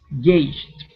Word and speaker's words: gauged: Gauged. End with the J sound. Instead of a D, it's gauge. Gauged. Okay, so here you're ending with a T. You're saying gauged.